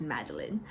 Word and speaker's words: Madeline Miller: look up an interview she pronounces her name is Madeline Miller so any time that I've said Miller so far I'm sorry for that it's Madeleine but yeah Madeline Miller